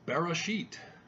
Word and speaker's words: Bereshit: First word is Bereshit, and he mispronounces it as an alternative.